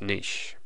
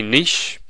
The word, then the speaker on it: niche: considered part of its niche. Now, I say niche. That's a English way of saying the term. You might hear it called niche. So niche and niche are two ways of pronouncing this word.